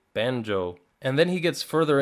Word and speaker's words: Banjo: And when he gets to the characters section, I'm hoping that he's going to pronounce banjo banyo, but he gets to him and he pronounces it perfectly, banjo.